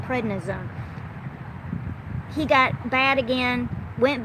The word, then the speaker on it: prednisone: on one round of credit zone and then he got better prednisone Pratt I'm saying it wrong prednisone he got bad again